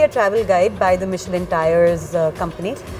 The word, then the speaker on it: Michelin: तो ये जो मिशेलिन स्टार होता है ये Is it Michelin? Michelin, like yeah. with the pronounced SH. SH, yeah.